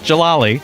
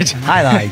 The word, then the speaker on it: Jai-Alai: For those of you who may not even know how to spell it, Jai. Not Jalali. All right, Jai-Alai, Jai-Alai, fantasy Jai-Alai.